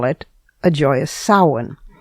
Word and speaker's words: Samhain: Or, as Wiccans call it, a joyous Samhain. It's spelled S-A-M-H-A-I-N, but it's pronounced Samhain, and it is the Wiccan New Year.